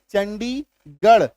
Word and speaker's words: चंडीगढ़: है ना, चित्तौड़गढ़, छत्तीसगढ़, तो ये गढ़ का जो स्पेलिंग है, गढ़ का जो उच्चारण है, इसी में, सिर्फ और सिर्फ इसी में आपका ढ होगा आर का उच्चारण।